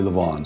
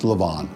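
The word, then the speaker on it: levain: I've been saying at 11 and it's really Lavon so the concoction we make from our starter is pronounced Lavon I think I'm going to try and do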